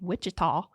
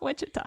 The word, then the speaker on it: Wichita: We lived in Wichita, which was how I knew. Wichita. Yeah, Wichita. In Wichita. It's not Wichita.